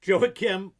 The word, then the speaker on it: Joachim: We are here today with Joey Kim. I first just learned how to pronounce the damn guy's name.